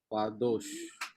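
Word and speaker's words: קדוש: Qadosh. Kadosh. Qadosh. Not kha. Not kha. Kha gives khet. Khet gives kha sound. And kap gives ka sound. Ka. But it is a qua. Qadosh. Like Q in Quran.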